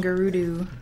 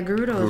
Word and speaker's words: Gerudo: a good old man I used to call him guru do you though Gary do ya I don't even know how you pronounce it in English Gary though I do yeah Gerudo who they say now oh look here we